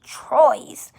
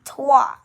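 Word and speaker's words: trois: is a duh and three is twa as you can guys can see as i told you also um it's spelled t-r-o-i-s you you might think it's supposed to be troyes but it's actually tua so take note of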